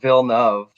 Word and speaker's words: Villeneuve: So it's actually pronounced Villeneuve. Villeneuve? We're saying Villeneuve. Well, it's French, right? So it's Villeneuve, which I'm French.